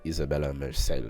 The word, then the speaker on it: Isabella Merced: Alright, she says Isabella Merced.